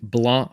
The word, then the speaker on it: Blanc: hey everyone and welcome back so today we're going to be reviewing blah for the Nintendo switch and yes theoretically the C is silent now this game is a Cooperative puzzle platformer that is releasing on February 14th of 2023.